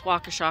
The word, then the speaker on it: Waukesha: I'm in Waukesha Wisconsin and I know it's Waukesha because I had to Google how to pronounce it and Waukesha Wisconsin was known for